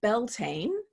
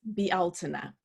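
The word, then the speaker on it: Bealtaine: probably seen that word it's spelled as if it were pronounced Beltane but the gaelic pronunciation is BL tuna lots of gaelic words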